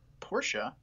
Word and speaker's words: Porsche: build between General Motors Porsche which is the correct way to say it and mercedes-benz so it's